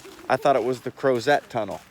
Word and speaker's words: Crozet: They're like, oh, Crozet. They referred to it as Crozet. I was like, oh, okay, Right. so that's how you say it.